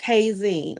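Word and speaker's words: Heyzin: MGS Network Hay Zeen. I'll be filling Spell it out. H E Y like hey girl, hey. Right? Z I N like magazine, but Hay Zeen.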